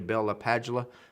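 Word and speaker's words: Bell–LaPadula: I think it's actually Bella Padula. I used to work with a gentleman, brilliant guy, that actually met or listened to him speak, and that's how he said he pronounced his own name.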